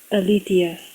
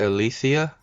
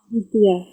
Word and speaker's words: Alethea: Yes, I'm Alethea. how do you pronounce it? Alicia? Alethea.